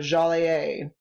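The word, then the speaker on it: Jolliet: in 1673 Marquette and jolet also meet Iowa natives along the Mississippi River by the way the pronunciation of jalet is also jaler thought I would throw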